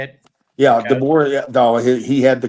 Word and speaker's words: DeBoer: Yeah, DeBoer.